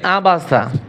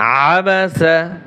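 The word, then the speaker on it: عبس: আবা সিন জবর সাবাসা এইখানে কিন্তু অনেকে পড়ে আবাসা আইন গলার ভিতরে চাপিয়ে বলতে হবে আবাসা আবাসা واؤ জবর ওয়া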